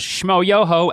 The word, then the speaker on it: schmoyoho: us their YouTube channel known as schmoyoho accent on the yo was created back in